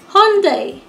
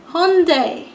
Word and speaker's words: Hyundai: The next one rhymes with Sunday, Monday. It is Hyundai. Hyundai.